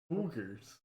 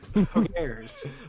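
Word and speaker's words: Poggers: Poogers. Did I I believe just the take kids audio say off? poogers. Is that how you say it? No, it's Pogers.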